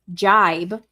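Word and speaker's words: gibe: So the G-I-B-E word, jibe, apparently, how it's pronounced.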